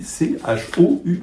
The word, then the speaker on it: choux: Et donc on a mis c h o u x, hein. Voilà l'évolution des choux avec un X, des chox mais qu'il fallait prononcer chou puis quelqu'un oublie puis